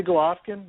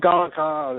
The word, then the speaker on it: Golovkin: Like, you can't say Golovkin, you can't say Kovalev, you can't say Pacquiao. It's always Pucciao and Galaka and whatever, however he mispronounces the name.